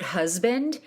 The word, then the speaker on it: husband: That S in the word husband is pronounced as a Z in American English.